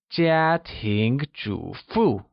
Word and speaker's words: 家庭主妇: first U and a falling tone on the second U. Let's hear you say 家庭主妇. Very good. Did you notice? 家庭主妇 is the first word we've learned that uses all four tones.